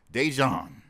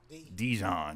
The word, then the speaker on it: Dejon: Dejon Djon, my bad.